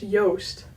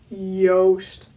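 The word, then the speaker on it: Joost: with a J but it's also not an English J it's a Dutch J which is like softer it's like not like joke the English word but like egg yolk yolk Yost yolk roast ghost that's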